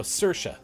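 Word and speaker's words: Saoirse: sirsha there we go I forgot how to say it because Sabrina goes search as a Welsh name and I'm like I don't remember how to say it I have to look it up again but you help me it sounds like Sasha so thank you uh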